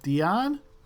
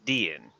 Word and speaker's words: Dian: And Brian, would you like to describe what, and I didn't get a pronunciation from you, is it Dion? It's Dian.